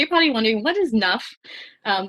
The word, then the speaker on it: NUFP: own words what is enough program so you're probably wondering what is nuff um the p is silent so it's naspa undergraduate